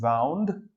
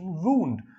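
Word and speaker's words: wound: British English pronunciation वाउंड, American English pronunciation वूंड। तो आप movies में, वेब सीरीज में, इंटरनेट पर कई बार इसको वूंड भी साउंड में सुनेंगे, पर हाँ वाउंड मतलब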